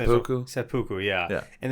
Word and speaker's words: seppuku: So it's called, in Japan, it's called, and I'm probably pronouncing seppuku?